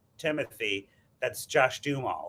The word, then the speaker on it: Duhamel: think it's Josh Dumel. For Americans, I pronounce it like the Oh, I way see. Got it. from the area of France that he was born.